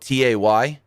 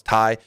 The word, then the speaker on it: Tay: throws me off that her name is spelled ta y t cuz my dyslexic brain reads it as Tay so I say Tay even though I know it's Tai it should be Ty